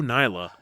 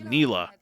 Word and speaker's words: Nyla: Again, in the book, she said her name was based on the Nile, so Nyla. But for the entire episode, she calls herself Neela.